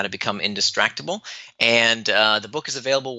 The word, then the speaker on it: Indistractable: So the book is called Indistractable. It's spelled I-N, the word distract, A-B-L-E, so Indistractable.